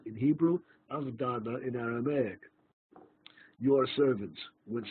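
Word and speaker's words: עבדנא: Nun in Avdana, because it's not Avdena, it's Avdana. Avdenu in Hebrew, Avdana in Aramaic.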